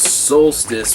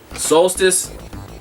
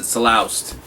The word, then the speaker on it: Solstice: So, and then I got Solstice, like I showed you before. When I was a kid, I used to pronounce it Saloust.